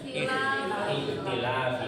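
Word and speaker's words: ٱخْتِلَٰفِ: Iktilafi. Kenapa dia ikhtilafi bacanya? bawah karena huruf ketiga. Nah, karena huruf ketiganya baris bawah. Huruf ketiganya ta.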